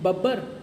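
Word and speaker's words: Bubber: बब्बर से, है ना, ब्यूबर कहो या बब्बर कहो, कोई, बब्बर इज़ the correct pronunciation basically, है ना।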